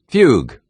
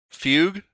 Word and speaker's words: fugue: Fugue. Fugue. Fugue.